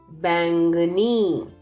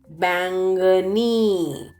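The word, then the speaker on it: बैंगनी: Violet is bangani. Bangani. Do you see N is underlined in the word? That is for nasal sound. It's not to be pronounced. So how will you say? Bang, bang, bangani.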